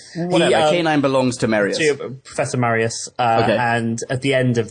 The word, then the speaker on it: Marius: who belongs to a professor marinus Marius sorry oh really Marius yeah okay does he